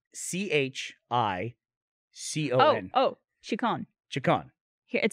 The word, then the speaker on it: Chicon: How do you pronounce C-H-I-C-O-N? Oh, Chicon. Chicon. Here, it says Chicon. Or Chicon Street. Chicon. Mm-hmm. It says Chicken Street.